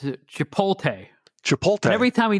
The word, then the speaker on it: Chipotle: Yeah, he pronounces it Chipotle.